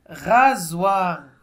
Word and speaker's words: rasoir: Deux voyelles et se prononce comme Z. Z. C'est bien? C'est bien. Rasoir.